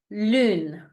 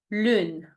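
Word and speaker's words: lune: good perfect let's move to the second example Lun Lun which means Moon repeat after me Lon your turn perfect now a second time Lun your turn perfect now the third example which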